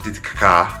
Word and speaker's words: Titicaca: Titicaca. That's how you pronounce it. You're not supposed to pronounce it the other way. That's the wrong way.